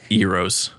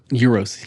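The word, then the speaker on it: gyros: Euros. Euros. Euros. Euros. Like hero.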